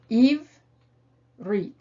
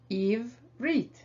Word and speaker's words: Ivrit: contain the new sign, you begin by approaching them as if they were two separate syllables. Ivrit. And then you put those two syllables together, ivrit. And then you finally notice